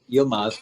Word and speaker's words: Yilmaz: And forgive me if I pronounced your last name It's all incorrectly. good. Yilmaz, but it's all Oh, good.